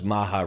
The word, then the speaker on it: MAHA: a this like the because Maha rhymes with MAA they tried to make